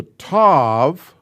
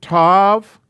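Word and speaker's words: תו: why they did this the new letter is a is a tov you make it like that and then come down from here and add a little tail touch got a touch right there now they have it tav and they also have in the book tav the the difference in pronunciation is none unless you're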